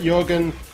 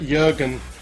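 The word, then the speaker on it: Jørgen: to compose himself and my apologies I should actually pronounce that Jurgen I know that that o in the Danish language as long as it's not followed directly by a g is actually a u sound Ludwig culbert just like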